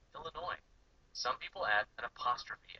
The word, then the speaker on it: Illinois: when you're dealing with nouns that end in a silent s like Arkansas and Illinois some people add an